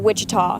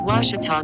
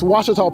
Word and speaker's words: Ouachita: Ouachita Baptist University back in Texas everybody pronounces it Wichita but really it's Ouachita Ouachita Ouachita how would you pronounce it Ouachita Ouachita it's Ouachita Baptist University get it right it's Ouachita people it's Ouachita Ouachita And